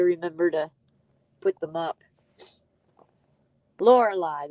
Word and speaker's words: Lorelei: to put them up Lorelei that's how I learned to pronounce that of course I'm not British I'm not English either I'm not Australian so American way is saying Lorelei I said it right the Americans win again